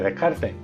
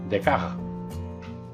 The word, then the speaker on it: Descartes: más cariño y recordad no se dice descarte se dice de caja hasta luego Bueno aquí